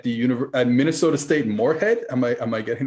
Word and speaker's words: Moorhead: tight end at the universe at minnesota state moorhead am i am i getting that correctly am i getting the pronunciation yeah yeah it was there's two minnesota